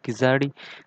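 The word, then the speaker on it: Keeladi: देखिए ये किलाड़ी जो है नाम थोड़ा कंट्रोवर्शियल है। इसमें कहीं कहीं किलाड़ी बोला जाता है, कहीं कहीं किजाड़ी बोला जाता है। लेकिन देखिए ऑफिशियली जो है ये स्पेलिंग डिक्लेयर किया हुआ है किलाड़ी सिविलाइजेशन, तो मैं भी इसको किलाड़ी सिविलाइजेशन ही बोलूँगा।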